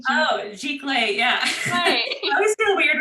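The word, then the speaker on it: giclée: the type of art print just like oh gee clay yeah i always feel weird when i say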